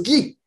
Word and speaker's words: Ghis: Guy, on prononce Guy, qui vient simplement de.